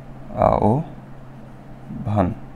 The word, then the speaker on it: আহ্বান: নাকি আহ্বান হবে আহ্বান হবে কারণ বটা পিঠে আও ভান এরপরে মনে করো দেখি জিভা নাকি জিহ্বা না